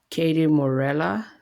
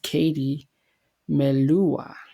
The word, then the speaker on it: Katie Melua: a lot of Folk Music as well um Katie morela I think that's how you pronounce her name wonderful oh sorry I butchered her her say name it's definitely Katie Melua Wonderful Life yeah wonderful it's a wonderful but